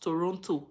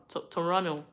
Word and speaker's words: Toronto: in Toronto so yes they said it's not pronounced Toronto it's pronounced toron Toronto so yes I live in Toronto when I have enough money H Canada how